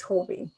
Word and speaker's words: Huobi: how to pronounce that they say it horby okay yeah so when i've gone to their events it's hobby so um yeah so